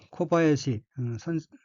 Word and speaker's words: 小林: 그리고 끝부분에 코바야시 그 한자는 작을소 스폴림이죠. 코바야시라고 읽고 일본 성씨 중에 하나입니다.